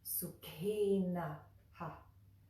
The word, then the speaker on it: Sukhinaḥ: What I will say is that it, in this case, it is going to echo that right before it, the letter right before it. So it's like this: Sukhinaḥ, Sukhinaḥ, Sukhinaḥ, Sukhinaḥ.